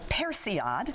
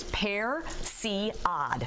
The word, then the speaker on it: persillade: cooking life I think so basically it's called Percy odd carry that with me Garcia heresy odd i put a graphic up that shows how to pronounce it so it's you can see it spare see odd okay those French have a different word for